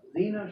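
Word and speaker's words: Zeena: and his daughter uh Zena Shrek like Zena Warrior Princess yeah and then the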